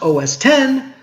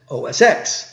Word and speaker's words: OS X: a unix-like X ending which they told everyone was to be pronounced OS 10 but everyone just calls it OS X which is interesting because